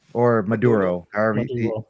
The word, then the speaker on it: Maduro: So in the so in our Spanish accents we would just pronounce it as Maduro basically but you can just say Maduro if anything.